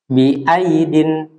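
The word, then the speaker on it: بأييد: Bi aidin. Nggak boleh bi aidin. Ya. Jadi huruf ya yang kedua itu ditulis tetapi tidak diucapkan.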